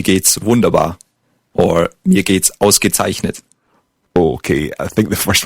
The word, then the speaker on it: ausgezeichnet: Ausgezeichnet. Let's take it syllable by syllable. The first word, the first syllable. Aus. Gezeichnet. Zeichnet. Ausgezeichnet. Yeah, very good. Ausgezeichnet.